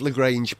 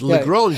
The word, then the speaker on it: Lagrange: There are 5 Lagrange points, aren't there? Right, yes, correct. But I always think that we mispronounce it. It's Lagrange, Joseph Lagrange, wasn't it?